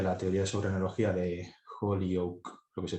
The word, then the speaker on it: Holyoak: Defenderé, o mejor dicho, voy a intentar mostrar que, tomando como referencia la teoría sobre analogía de Holyoake, lo que se pronuncia así, y Zagar, por un lado, y